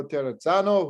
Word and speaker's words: Terrazzano: name i love it i was told a lot of times the doubles that is like pizza all right so let's